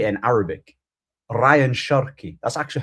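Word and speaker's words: Rayan Cherki: Ryan Cherky.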